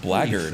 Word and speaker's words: Blackguard: Blackguard armor is pronounced Blackguard, actually.